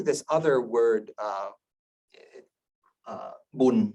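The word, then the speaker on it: บุญ: other word uh uh Boon which is uh the Thai pronunciation of punya may be added as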